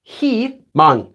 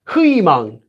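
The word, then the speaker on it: 희망: If it's any other consonant, for example, this one, notice it's pronounced he mang, even though it's written as hui mang.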